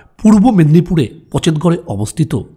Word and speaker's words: পচেতগড়: হোমস্টেডতে যা পূর্ব মেদিনীপুরে পচেতগড়ে অবস্থিত সেই বিখ্যাত পচেতগড় রাজবাড়ি যার ইংরেজি উচ্চারণ আবার পঞ্চেতগড় রাজবাড়ি আচ্ছা এইতো হলো রুম আরেকটা